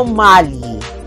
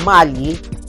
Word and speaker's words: Magli: And he is Bruno Mali. Ang spelling B-R-U-N-O for Bruno. And then yung kanyang pronunciation ng Mali is, ang spelling is M-A-G-L-I. Parang Magli. Pero ang pronunciation is Mali.